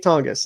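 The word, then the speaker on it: Jake Tonges: super pumped about it jake tonks or tongas jake tongus is how you say it i feel like he's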